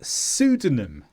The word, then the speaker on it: pseudonym: But in all these cases, we don't pronounce the P. We start with the S.